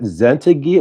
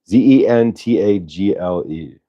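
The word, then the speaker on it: Zentangle: Zentagil? What is Zentagil? I can't even pronounce it. Zentagil? All right. What is Zentagil, Karen? Zentagle.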